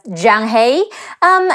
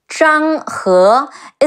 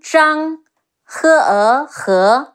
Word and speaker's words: Zhang He: I know in the game he's pronounced as Zhang He. In Mandarin is Zhang He. It's like a British her with rising tone. He, he, Zhang Zhang, he, Zhang He.